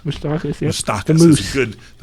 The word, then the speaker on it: Moustakas: Moustakas. Moustakas.